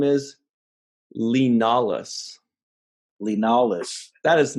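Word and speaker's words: Li Nalas: I can't actually see the name and how they spell it, but it sounded to me like they kept saying Leonidas, Oh, you know what his name is? Lenalis.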